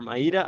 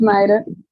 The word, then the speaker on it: Mayra: And let me ask you now, Mayra or Maira, I don't know how to pronounce her name. It's Mayra.